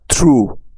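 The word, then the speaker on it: through: টি এইচ ও ইউ জি এইচ এই শব্দটার উচ্চারণ হবে দো দো অর্থ যদিও আর টি এইচ আর ও ইউ জি এইচ হয় থ্রু এগুলো হচ্ছে নিয়মের বাইরে তাই এগুলোকে মুখস্ত করে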